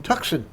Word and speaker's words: Tucson: This is a rooftop in Tucson. In Tucson, that's right. Very few people pronounce that name correctly. They always say Tucson.